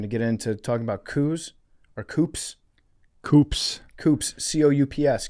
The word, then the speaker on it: coup: We're going to get into talking about Coups, or Coups.